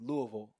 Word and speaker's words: Louisville: where you're from, and I think I said Louisville. How do I pronounce it? Yeah, that sounds like the swift rebuke of that is Louisville. Right? Yes, you said it good. Yeah, Louisville.